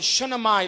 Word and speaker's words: Shunammite: In Second Book of Kings, chapter 4, there's a story over there about a woman called the Shunammite lady.